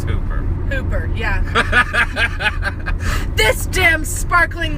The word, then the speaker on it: Hooper: Hopper. 2 O's. Oh, that's Hooper.